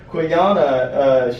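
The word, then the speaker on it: Qiyana: I think it's pronounced like I always want to say like quinoa, but Quiyana, she's this new champion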